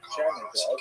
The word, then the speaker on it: Chernihiv: And there's another, Isaac of Chernihiv. Sometimes this is Isaac of Chernigov, that the Russian pronunciation of the same place.